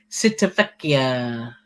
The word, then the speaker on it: Civitavecchia: And Kelly and Doug said it's called Civitavecchia. Civitavecchia, that's what I said. Civitavecchia. Well, there's how you say it. Oh, there's another one. What's that? Corinne as well. Oh, Corinne's saying Civitavecchia.